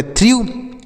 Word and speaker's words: threw: अगर है THREW तो TH से थ हो गया, R से हो गया र, और E से बड़ी की मात्रा W से हुआ तो हो गया थ्रू। थ्रू मतलब हो जाएगा फेंका, थ्रू मतलब फेंका।